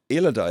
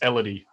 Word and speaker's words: Elidi: contemplation is it uh illidan is it actually pronounced illidan i should check that uh no it's elodie well at least that's